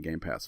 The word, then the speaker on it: Game Pass: There's no S on it. Game Pass, folks. Say it right. Game Pass for September 2018. Say it loud, say it proud, but get it right.